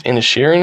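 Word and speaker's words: Inisherin: is the Banshees of I think it's in airan is how you say it this movie is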